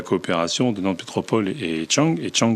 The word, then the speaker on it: Dschang: de Nantes Métropole et Chang qui n'est pas en Asie, mais en Afrique. Voilà. Parce que ça s'écrit DSCHANG.